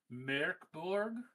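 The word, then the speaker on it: Mörk Borg: What is the name origin of Morborg? Cuz in my mind I always assume it or associate it with gork and mor. I'm like but it's not it's not it's actually pronounced merkborg uh because the umlout and it is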